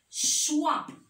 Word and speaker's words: choix: Alors, X à la fin du mot ne se prononce pas. C'est une lettre muette. Comme dans le mot choix.